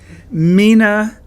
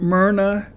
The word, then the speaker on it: Mina: I had kind of figured this might happen, so I had spent enormous energy pronouncing the name Mina correctly and clearly as the day is long. "Mina, not Myrna," I said thinly.